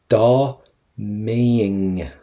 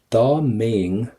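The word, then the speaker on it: Dá mbeinn: Da maying, right? So I'm going to get an ing sound. Da maying means if I was, or if I were.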